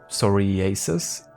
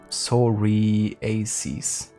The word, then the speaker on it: psoriasis: It's Greek in my language, it's psoriasis. Psoriasis. At least if it's like English pronounced. Otherwise I would say psoriasis. But depends, I guess, if you mean it's like Greek pronounced or English pronounced.